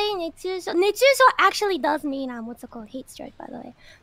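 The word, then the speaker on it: 熱中症: How you say it is nechūshō, right?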